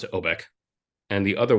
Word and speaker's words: Obec: I'm also curious because I know that I was Pro pronouncing it wrong originally because it is OBC where does that kind